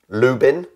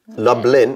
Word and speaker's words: Lublin: pot to chew uh less known tall wreck Lubin what did Lubin no lube Lublin Lublin there is a Lou bin l-o-o-b-i-n Ben